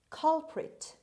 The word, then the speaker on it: culprit: word number nine culprit culprit culprit the stress is at the beginning means offender person guilty